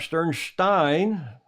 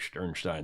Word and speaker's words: Sternstein: Rob Sternstein is how he pronounces it, really, but I like Sternstein, the German pronunciation.